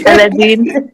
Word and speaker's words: Aladdin: It's Aladdin.